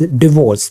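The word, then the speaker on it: divorce: this is pronounced as डिवोर्स this is pronounced as डिवोर्स okay a then this is डिवोर्स with the stress on the second syllable then जैसे ये अब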